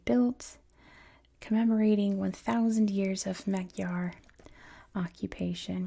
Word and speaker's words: Magyar: commemorating 1,000 years of Magyar occupation, which I'm pretty sure that's not how you say it in Hungarian. That's how you say it in English, Magyar.